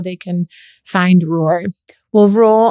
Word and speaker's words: Roar: Well, raw, I always have to say is spelled ROAR. Okay. Not like raw food. It's raw like a lion.